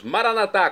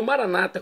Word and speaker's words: Maranatá: E agora eu clamo do aramaico dialeto de Jesus, Maranatá, como dizemos nós católicos. ou maranata, como dizem nossos irmãos separados, os evangélicos ou protestantes. Não importa a pronúncia, o significado é o mesmo.